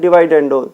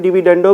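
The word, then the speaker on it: dividendo: अब ये जो टर्म्स गिवन है, इस पे सबसे पहले जो हमारा थ्योरम नंबर 5 था, कंपोनेंडो एंड डिवाइडेंडो, जिसको कुछ लोग जो है डिविडेंडो भी प्रोनाउंस करते हैं।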